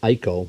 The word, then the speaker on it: ICO: this is an ICO the ICO pronounced eco model 950 resistance capacitance